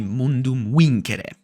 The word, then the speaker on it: Mundum Vincere: And this is a mod for Rome Remastered called Mundum Vincere, I think, but the period accurate pronunciation would be Mundum Vincere.